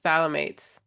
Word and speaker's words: phthalates: I watched 2 of the most annoying videos on how to pronounce it. It's phthalates.